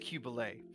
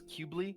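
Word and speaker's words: Qubeley: i'm cubelay i heard i think it's pronounced cubelay i i was in my mind thought it was cubely or queebly i think it's kind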